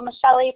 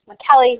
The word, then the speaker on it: Michelli: Sometimes I go by Michelli professionally only because it's easier and more phonetically to spell versus the proper way, which is McKelly, which sounds like it's Irish.